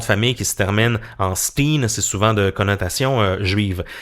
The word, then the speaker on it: Berenstain: un bon mot français, on va changer un peu notre façon de prononcer tout ça parce que c'est les oursons Berenstain, c'est un effet Mandela qui se comprend avec la prononciation vraiment. Et vous allez voir, lorsqu'on demande à des Américains d'épeler ou de prononcer le mot, je dirais à 99% du temps, ils vont dire Stein avec un E, mais en anglais on comprend que c'est Steen, donc c'est les Berenstain